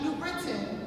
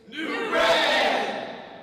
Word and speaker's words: New Britain: It is not New Britain, it is New Britain!